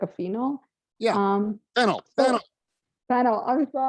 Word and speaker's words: phenol: And Phenyl, phenyl, and phenol. You edit the emphasis in the right syllable.